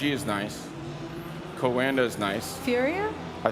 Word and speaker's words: Furia: far um reg is nice kawanda is nice Furia I said it right that time finally uh